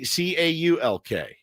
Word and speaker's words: caulk: How do you say CAULK? Caulk. It's caulk, obviously. Jesus, Ben. I just don't pronounce the I guess I just don't pronounce the L.